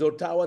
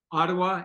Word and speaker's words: Ottawa: mean I believe is is Otawa the capital of Canada Ottawa yeah Ottawa is the capital of Canada yes Ottawa okay sorry thank you you know I'm pronouncing it like an African forgive me it's all